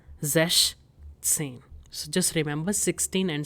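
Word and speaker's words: sechzehn: So its pronunciation is zesh tsin.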